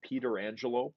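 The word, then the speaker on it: Pietrangelo: to back D with petrangelo I've heard it also Peter Angelo but that's a a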